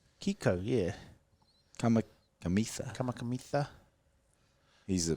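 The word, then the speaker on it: Kikau: How do you pronounce that? Kiko? Kiko, yeah.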